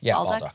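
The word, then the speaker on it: Bolduc: Oh, yeah, Baldock. Baldock.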